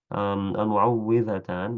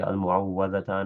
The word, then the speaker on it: المعوذتان: المعوذتان بكسر الواو. So that's the only correct way to say it. So a lot of people say المعوذتان or المعوذات. That's incorrect for الفلق والناس.